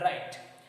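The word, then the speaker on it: write: When we read W in column number 3, it has no sound. Okay, here third number column, here you can see first, second, third and fourth. Okay, third number column you see the pronunciation wrinkle, wriggle and right. ये तीनों का जो pronunciation है wrinkle, wriggle और right, here W, W and W, all 3 W's are silent here.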